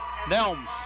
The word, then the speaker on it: Nelms: Helms, yep. Nelms. Nelms, that's what I said. Nelms or Helms, or it rhymes.